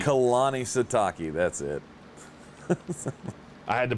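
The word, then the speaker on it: Kalani Sitake: it i always screw it up i can't pronounce it so kalani sataki kalani sataki that's it i had to pull up the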